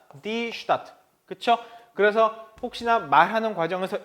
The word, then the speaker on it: Stadt: 자, 그리고 또 하나가 start라는 표현인데, 자, 우리가 발음 주의할 게 요거하고 똑같죠. start, die Stadt.